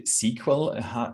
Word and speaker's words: SQL: of storing measurement data um sql or actually sql is how it's pronounced is um a very